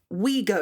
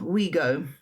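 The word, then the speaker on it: Ouigo: There is a we go. Is that how you say it? O U I G O. We go. That's how I'd say it.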